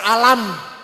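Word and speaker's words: الم: baca Quran dengan benar Alif Lam Mim dibaca alam Yasin dibaca Yas ng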